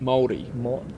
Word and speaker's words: Māori: Māori. Like English would somewhat pronounce it similar to Mouldy, okay. like mouldy bread.